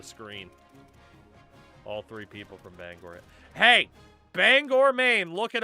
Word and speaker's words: Bangor: It's pronounced Bangor. I don't know where the people got to Oh, that's Banganger. No one says that here. Nobody says that ever.